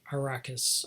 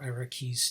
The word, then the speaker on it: Arrakis: So the fundamental plot is that on the planet Arrakis, or Arrakis, depending on your pronunciation, otherwise known as Dooooooon, which is a planet that basically looks like the Sahara.